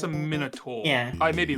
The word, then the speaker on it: Minotaur: Okay, now if we want to talk about pronunciation, minotaur. Yeah, that's not right. That's Minotaur. Minotaur.